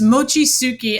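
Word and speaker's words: Mochitsuki: And I hope I'm pronouncing it's Mochi Tsuki? Close. It's Mochi Tsuki, and we're actually changing the name to Mochi the movie because it's too hard to pronounce Mochi Tsuki.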